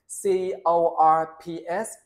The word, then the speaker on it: corps: Và đây là đặc biệt nha, CORPS, có P của S mà các bạn chỉ đọc là a corps, a multinational corps, là một đội quân nhiều quốc gia, đa quốc gia ha.